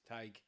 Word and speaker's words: Tadgh: is it Tadgh, is it, and he says Tadgh. I went, I'll remember this. Tadgh the Tiger.